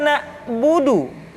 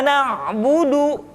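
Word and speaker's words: نعبد: Kemudian perhatikan ketika huruf ain disukun maka suara kita tidak boleh mati. Contoh iyaka na'budu bukan'budu tetapi agak ditekan sedikit kanu. Iyaka na'budu. Itu pengucapan huruf ain.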